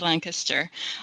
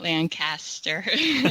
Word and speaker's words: Lancaster: tell people that I'm from Lancaster which is pronounced Lancaster not Lancaster sorry that's a little thing that lancasters have